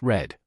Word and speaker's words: read: They read books. The past tense of read is spelled the same, but pronounced read.